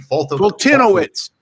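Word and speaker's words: Foltynewicz: I don't even know how to pronounce his name. Fultinowicz.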